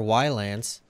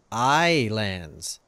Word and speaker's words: Ylands: more while ants or as I've recently been informed islands yeah that's right we finally know what this game is called or at least how to pronounce it it is AI lands so guys I'm gonna